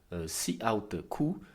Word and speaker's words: cout: Cela se manifeste notamment avec la syntaxe cout qui se prononce cout, qui se prononce cout.